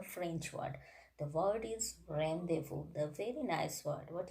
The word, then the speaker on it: rendezvous: is actually the french word the word is rendezvous the very nice word what is the meaning